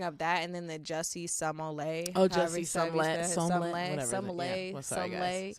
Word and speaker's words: Jussie: Jussie. It's Jussie, but with the way people are all pronouncing it is like Jesse.